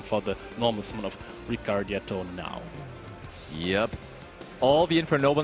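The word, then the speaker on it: Ricciardetto: I have had problems with the pronunciation because there is an I in there, and I never know where, but it is Ricardetto.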